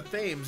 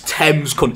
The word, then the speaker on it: Thames: you taking the piss faves it's thames if any america i swear down if any of you americans say thanks i will end your